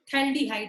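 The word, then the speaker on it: phthalaldehyde: बेटा P और H यहाँ पे साइलेंट है, कॉमन नेम क्या होता है, थैल्डिहाइड होता है।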